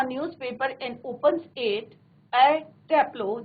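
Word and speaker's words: Taplow: And opens it एट टैप्लो, जैसे हम as usual हम बात करते हैं तो ई आर नहीं बोलना आपको, ए टैप्लो, इस तरह से आपको इसको प्रोनाउंसिएशन करना है।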